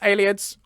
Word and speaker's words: Ayleids: akatosh down to ayleids is that how i pronounce that by the way aliets a-leads allieds somebody help me out are we saying aliens ayleids yep ayleids yay for my instincts okay let's record this